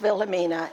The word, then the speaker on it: Wilhelmina: The German way, if it's spelled that way, the E is always pronounced as an A. So when you see that, that is pronounced Wilhelmina in German.